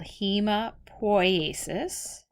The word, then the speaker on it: hemopoiesis: Now all of these are made in marrow called red bone marrow, and that process is called hemopoiesis. Or you might hear it pronounced hematopoiesis, and that's the process of forming all blood cells, so it comes from your bone marrow.